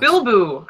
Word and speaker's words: Bilbo: It's pronounced Bilbo. I was pronouncing Bleeboo.